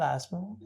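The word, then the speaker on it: asthma: ऐसा ब्रेक लेना फिर मास्मा I should have अस्थमा बट अगर अपने को स्पेलिंग याद रखना है तो हम लोग बोलेंगे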